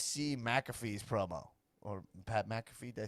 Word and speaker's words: McAfee: Did you guys see McAfee's promo or Pat McAfee?